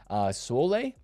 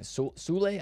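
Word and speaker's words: Soulé: Sole. Forget how to say his name. Sule, I think, is how you say his name.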